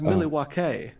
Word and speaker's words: Milwaukee: Just It's actually pronounced Milwaukee.